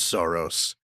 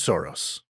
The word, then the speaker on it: Soros: Or George Soros, but I'm not going to try and pronounce it the Hungarian way because I'm going to get it wrong, and I'll just trip over making that sh sound.